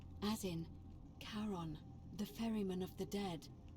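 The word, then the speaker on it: Charon: Only your pronunciation is a little off. Karan. The name you heard wasn't Karen. It was C H A R O N. As in Karon, the fairyman of the dead.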